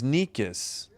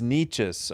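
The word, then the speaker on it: Nečas: Oh, Niches. I thought it was Nikis. So, it's Niches. All right. I apologize to ABS fans for having the wrong pronunciation.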